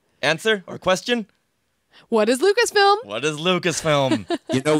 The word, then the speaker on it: Lucasfilm: What is Lucasfilm? What is Lucasfilm? You know, if he had said, "What is Lucasfilms?" like so many people do, he probably would have been declared wrong because he mispronounced some